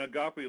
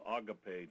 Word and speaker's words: agape: And agape love is also called agape, too, so you'll hear it pronounced both ways.